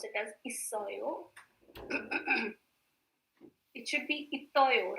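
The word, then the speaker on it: 있어요: It's not Itoyo, it's isoyo.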